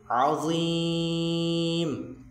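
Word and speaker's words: عظيم: লা হাওলা ওয়ালা কুওয়াতা ইল্লা বিল্লাহিল আলিয়্যিল আযীম। 2 জায়গায় আইন আছে আর শেষে ল আছে, আযীম। জ্বর উচ্চারণটা তো বলছে জিহবার আগাটা সামনে 2 দাঁতের সাথে লেগে যাবে এবং এখানে 3 আলিফ পরিমাণ টান হবে, আযীম।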